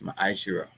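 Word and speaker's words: מעשר: And it means tent in the Hebrew and is pronounced masher.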